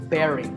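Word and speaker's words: bury: usually an important person is buried we say Barry now when I first heard this as a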